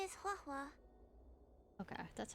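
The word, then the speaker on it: Huohuo: of the 10 Lord's commission my name is huwa okay that's how you say it as a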